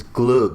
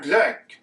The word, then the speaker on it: glögg: It's glug is what I've been told. Like glug. Vet du vad det här är? Det här är glögg.